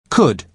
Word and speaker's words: could: And, The man at the lost luggage desk uses could you to Carolina because he is being polite. Listen to the pronunciation. Could. Could. You spell it C-O-U-L-D, but the letter L is silent.